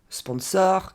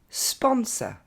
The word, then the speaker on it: sponsor: Deuxième mot, on va pas dire sponsor, comme on dit en français, mais sponsor.